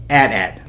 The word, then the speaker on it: AT-AT: It's the AT-AT Walker. That's right, AT-AT. I didn't spell it out, A-T-A-T. That's just stupid. It's AT-AT.